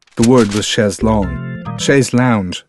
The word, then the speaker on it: chaise longue: word was shares long chaise lounge she said pronouncing it as all iowans perhaps all Americans did ashes long in those